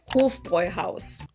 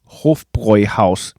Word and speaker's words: Hofbräuhaus: long O, and then Bräu is pronounced like this, and you don't need to... I was very off on this one. Hofbräuhaus. Be able to do the German R, even if you just say Bräu, you're closer to the original. And then Haus is house.